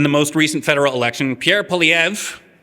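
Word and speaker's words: Pierre Poilievre: Which means if you'd only had teenagers voting in the most recent federal election, Pierre Palev, that's how you pronounce his name, would be prime minister right now.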